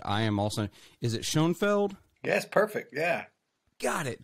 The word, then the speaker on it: Shoenfeld: Is it Shoenfeld?